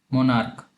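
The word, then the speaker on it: monarch: कुछ वर्ड ऐसे होंगे जिनके अंत में सी एच तो होगा लेकिन उनका प्रोनाउंसिएशन क होगा, जैसे स्टोमक तो इसका प्लूरल हम बनाएंगे स्टोमक्स। मोनार्क तो इसका प्लूरल हम बनाएंगे मोनार्क्स।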